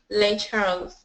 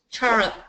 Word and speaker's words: Lake Charles: welcome yes in this in this area to lake charles Oh board Oh coach can you it and teach me please how to say these words shalom's spell it ch arma2 Charles yes Charles is because this is the name of the